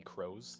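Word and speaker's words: Kroes: last name um we we call it on here but it could also be crows yes it's k-r-o-e-s is my last name so it's spelled people say it differently I only say crows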